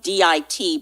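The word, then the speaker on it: dit: We can all look them up, and the word at the bottom, it's spelled D-I-T, but it's pronounced D.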